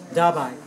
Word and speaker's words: Dabai: Dabai is the name. D-A-B-A-I.